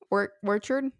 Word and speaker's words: orchard: soapy bubbles to pollinate a pear orchid. Or is that how you say it? Orchid? Orchard? Orchid? Orchid? Orchid. Like the plant, Orchid? right? But isn't that one? Because it's orchid. Oh, orchard. Orchard. Let's hope that it's orchard.